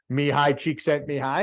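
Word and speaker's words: Csikszentmihalyi: can see why at the bottom there right me high cheek sent me high it's pretty easy to say after you know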